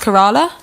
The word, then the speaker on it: Kerala: I think it's pronounced Kerala.